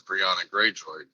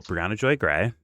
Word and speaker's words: Briahna Joy Gray: Well, my question was going to be how far to the left is Briahna Greyjoy? Well, Briahna Joy Gray.